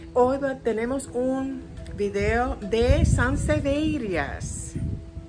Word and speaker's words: sansevieria: tenemos un vídeo de sanseías así se dice verdad porque no se dice San severas OK Vamos a hablar